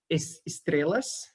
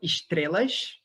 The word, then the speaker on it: estrelas: One feature is that the S in the syllables coda is kept. So it's preserved in my dialect, the S in the end. So in this word, I would say estrelas instead of estrelas, which would be what you expect here in Portugal or in Rio.